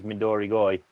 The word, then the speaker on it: Midorigoi: Well, actually, the proper pronunciation is Midorigoi.